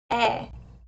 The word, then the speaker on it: é: I'll pronounce them for you now. E, Cláudio e Jennifer. It means and. É, Jennifer é uma mulher.